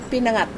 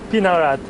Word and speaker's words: Pinangat: It's called Insang Pinangat. Pinarat Yeah, pinangat na pampano.